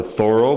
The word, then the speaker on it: Thoreau: It's about the American writer Henry David Thoreau. A lot of people say Thoreau or Thoreau, but I went down to Concord, Massachusetts, and